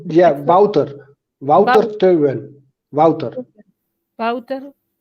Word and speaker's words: Wouter: Oh, my teammate Wouter is leading the race.